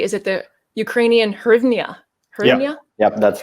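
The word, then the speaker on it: hryvnia: I saying it correctly is it the Ukrainian hernia oh yeah yeah that's right well that's very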